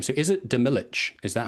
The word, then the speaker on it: Demilich: So is it Demilich? Is that how I'm supposed to say it? I think it's Demi-Lich because it's like a Demilich.